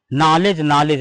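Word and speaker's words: knowledge: एन ओ डब्लू एल ई डी जी ई नॉलेज नॉलेज माने ज्ञान ये मैंने चार शब्द यहां पर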